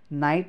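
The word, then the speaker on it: know: छ होइन, भने त्यहाँ अब यो के को उच्चारण हुँदैन है। अब हामीले के भन्नु पऱ्यो त भन्दाखेरि, यसलाई अब पढ्दाखेरि नाइट भन्नु पऱ्यो। ओके, अब केएनओडब्लुलाई हामीले कुनो होइन नो भन्नु पऱ्यो है, कुनो भन्नु होला, कुनो होइन नो।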